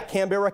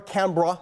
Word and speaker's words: Canberra: australia's capital in 1927 fur can Barra yeah Canberra Canberra is how they pronounce it but that is absolutely right second